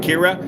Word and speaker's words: Ciara: firm touchdown kira yeah it's kira i'm from ireland that's the way we say it did i say it right kira a firm touchdown especially